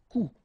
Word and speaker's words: coup: Un coup. And then un coup. Alright, so you can see that you get this final P here, but then you don't pronounce it. And last, un coup.